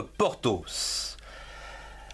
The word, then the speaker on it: Porthos: Donc, P majuscule, O-R, port. T-H-O-S, tos. En deux syllabes.